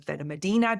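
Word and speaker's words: Benalmádena: So typically Malaga, you will have Torremolinos, Benalmadena, sometimes known as Benalmadena, depending on how you pronounce things in your neck of the world.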